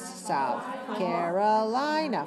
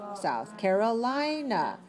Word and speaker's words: South Carolina: How many syllables? South Carolina. 5. Stressed on the fourth, right? South Carolina.